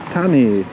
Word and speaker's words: Thani: think what's the point also the th and Tani udon Tani the th you'll find the most Thai Stone really pronounce a th very easily so they just say Tani like a tea so again this is